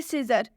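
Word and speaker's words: scissors: आगे और भी एग्जांपल्स देखिए, सीजर, सीजर में भी एस के बाद से सी आया हुआ है, यानी कि सी से पहले एस आया है, तो इसलिए इसमें भी सी साइलेंट होगा।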